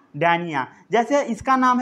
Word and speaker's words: Dionaea: ये जो है सनड्रिव, इसे बोला जाता है डायोनिया। क्या बोला जाता है? कई लोग इसे डायनिया भी पढ़ते हैं, डायनिया या डायोनिया, डायोनिया या डैनिया।